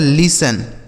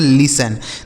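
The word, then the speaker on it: listen: इसे पढ़ा जाता है लिसन। एल आई एस टी ई एन। इसे पढ़ेंगे लिसन। दोस्तों यहां जो टी लिखा गया है ना यह साइलेंट है।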